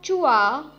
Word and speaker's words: zhua: The next Pinyin is ZHUA, has a pronunciation of chua, chua.